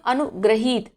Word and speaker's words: अनुगृहीत: अनुगृहीत, अब यहाँ पे क्या है, उच्चारण पर आप ध्यान देंगे, ये रा रकार है, इसमें आ का साउंड आता है और इस री की मात्रा में ई का साउंड आता है। इसे पढ़ेंगे हम अनुग्रहीत।